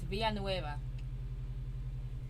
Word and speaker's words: Villanueva: in the robbery charlie villanueva uh you think you need to learn how to pronounce that name it's via nueva i thought i could